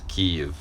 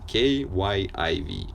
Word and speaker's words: Kyiv: All the major news outlets, including, I don't know, Washington Post, New York Times, etc., all spell it Kyiv. So it's easy. K-Y-I-V.